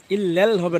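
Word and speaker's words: إِلَّا ٱللَّٰهُ: লাল লাম পুর হবে লাল ইললাল ইললাল ইললাল ইল্লালল হবে না ইললাল পুর হবে ইল্লাল ইলাহা ইল্লাল লাম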